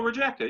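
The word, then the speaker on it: Rijeka: team i j e what r i g pronounce it i'd be a mel okay fine rejecter oh rejecter yeah you got it right um rejecter versus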